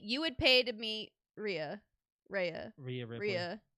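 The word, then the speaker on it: Rhea: that I mean you would pay to meet Ria Rea Ria r you say it right the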